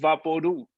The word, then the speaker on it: Vaporub: vaporub is pronounced vah-po-ROO. like loud or CHEW.